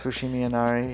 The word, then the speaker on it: Fushimi Inari: But we dropped off our luggage, and then we went to the Fushimi Inari. Oh yeah. Is that how you pronounce it? Yes. Okay. Yes, Fushimi Inari.